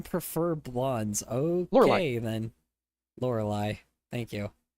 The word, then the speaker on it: Lorelei: Lorelei. Thank you. I was thinking of Laura Lee like it was like a different kind of pronunciation, but that makes sense.